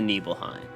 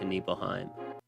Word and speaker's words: Nibelheim: we even arrive to neheim and that's how you say it right neheim that's how I've always said it I don't know how you guys say it but it's neheim now once we get to